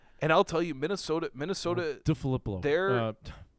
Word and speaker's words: DeFilippo: DeFilippo. They're did I just add an extra syllable in there? DeFilippo.